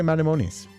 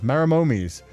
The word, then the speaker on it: Marimomis: Is it M? It's not N. I always thought it was Marimonis. Oh my god. Marimomis.